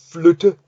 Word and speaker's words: flytte: But then when it's before two T's, it's flytte. In Swedish, it's flytta, and the two T's are not short, they're long.